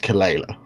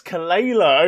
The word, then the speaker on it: Kelela: banquet sugarbug fine but you mispronounced kelela oh it's kalela okay all right yeah